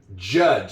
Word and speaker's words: judge: It's got a D. G in there and a silent E. Judge that that is written that is spelled correctly.